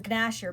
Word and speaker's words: Gnasher: It's pronounced Gnasher because 3rd grade me likes to pronounce things incorrectly.